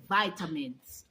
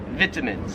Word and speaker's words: vitamins: The word is vitamins. Okay, guys? Vitamins. Let's hear this pronunciation. All right. Take your vitamins this morning. You know, it's healthy to take your vitamins. Yes. Some people in Australia, I don't know why, but they pronounce it vitamins. No, it can't be. It's not vitamins. That just sounds so wrong. All these words that I've